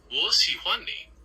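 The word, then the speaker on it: 我喜欢你: You can say Wo xi huan ni. Would you like to give it a try? Wo xi huan ni.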